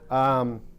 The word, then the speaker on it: Yaghmor: I'm sorry, how you pronounce that? Yaghmor.